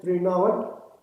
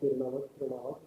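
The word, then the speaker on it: Trinavarta: So, Tirunavat is, he also called as Trinavat. Some people are called Tirunavat. There are different pronunciations.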